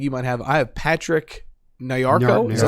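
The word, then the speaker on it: Patrick Nyarko: I have Patrick Nayako.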